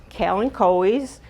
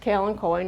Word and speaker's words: kalanchoe: We also have things like kalanchoes, and it is pronounced kalanchoe, not kalanchoe.